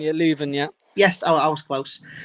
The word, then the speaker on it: Leuven: Next minute, I can't pronounce the name, so we have to bear with me. Levon. Leuven, yeah.